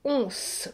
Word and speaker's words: onze: Regardez bien, c'est un N et un E. Donc, le S se prononce S. Once.